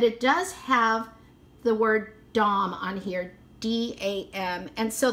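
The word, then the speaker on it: Dam: and so this one has the markings it's pronounced dom d-a-m and so but look at her hair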